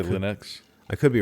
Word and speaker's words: Linux: There's like different ways of pronouncing things. It's like you have Linux. Linux. Like everybody says Linux, right? For what? LENNOX?